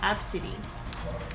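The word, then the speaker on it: Abcde: to do that but the mom named her AB CDE e and she apparently pronounces it absidy I feel bad for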